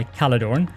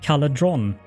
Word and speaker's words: Caledorn: Like, I am usually known by Caledorn, but it is a very frequent both mispronunciation and misspelling that people will either say or write Caledron. And I think, or Calderon, those two, I've gotten